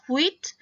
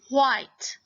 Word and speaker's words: white: Did you notice that we don't say this as wheat? This is white. White. The I there is saying its name.